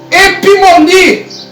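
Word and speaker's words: ὑπομονή: Porque a palavra, irmãos, perseverança, no grego, você pronuncia epimoni, ok?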